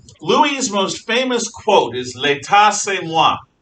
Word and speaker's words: L'État c'est moi: Louis's most famous quote is "L'État c'est moi." L'État c'est moi. That's spelled L'Etat space C''est space MOI. L'État c'est moi.